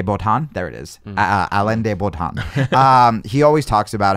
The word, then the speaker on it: Alain de Botton: or our de bolt on there it is Alain de Botton he always talks about how in relationships we